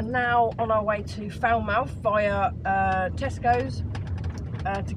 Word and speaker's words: Falmouth: are at fat well I keep saying it wrong what is it they did Falmouth Falmouth it's not Falmouth David keeps taking the